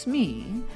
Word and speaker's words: SME: designer will get assigned a subject matter expert pronounced smee who allows you to mine their expertise in order to create a learning solution of course you will interview your smee and ask guided questions